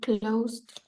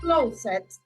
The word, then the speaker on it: closed: number eight Andrea she closed the correct great pronunciation right you're not saying closet but you're saying closed amazing let's see the